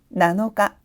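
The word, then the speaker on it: 七日: 역시 발음이 굉장히 귀엽네요. 자, 단어에서 살펴보도록 할까요? 7병이 됩니다. 나나홍, 나나홍. 7개, 나나츠, 나나츠. 7일입니다. 나노가, 나노가.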